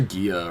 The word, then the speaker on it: Gia: I say Gia or Giza. I say Giza. That is not how you pronounce it. Is it Giza? Like the city in Egypt? Gia.